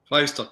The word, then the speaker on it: Feistl: Feistl? Feistl, correct. Yeah, Feistl.